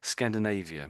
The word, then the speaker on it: Scandinavia: was pretty good yeah we say it just slightly differently Scandinavia I just say so it's the AIA bit yeah that you've got it um and Maybe that word there too.